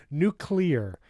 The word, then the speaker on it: nuclear: that what H know Nu clear I try to pronounce it like new clear I try to say those two words but together nuclear anyway uh Google